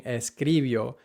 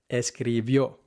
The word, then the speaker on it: escribió: And the mistake that learners tend to make is putting the emphasis on the second to last syllable instead of the last one, where the accent mark is, saying escribió or sucedió, or escribió